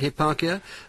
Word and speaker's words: Hipparchia: he was wooed by a virtuous maiden called Hipparchia. Is that how I pronounce it? That's right, Hipparchia, a wealthy, virtuous, young maiden.